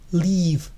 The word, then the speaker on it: live: Esos dos puntos al lado de la I indican que es una I extendida, live.